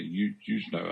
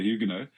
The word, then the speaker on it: Huguenot: Americans say Huguenot, I think, but we say Huguenot.